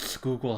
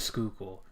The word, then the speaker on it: Schuylkill: grow up in Pennsylvania's can you pronounce Schuylkill correctly because the way that it's spelled has like zero relation to how it's pronounced yeah I mean it's